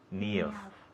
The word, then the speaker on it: Niamh: Niamh. Es un nombre gaélico. Sí. Ask me to spell it.